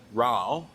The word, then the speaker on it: Rauch: Sorry, I was going to ask how do you pronounce it, because I always thought it was a rack beer. I think it's Rauch.